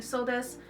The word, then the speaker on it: そうです: It has a U at the end, but you don't pronounce it either. So just get used to saying so desu.